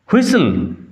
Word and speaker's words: whistle: হুইসল, বানান লক্ষ্য করো, বানান উচ্চারণ, হুইসল WHISTLE। T will remain silent, T silent থাকবে।